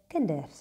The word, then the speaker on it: kinders: The plural for kind is kinders. Kinders. And we normally don't even pronounce the D. We often just say kinders.